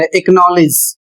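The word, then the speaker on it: acknowledge: दूसरा नियम लिखा हुआ है के या q से पहले यदि सी आता है तो सी साइलेंट हो जाता है।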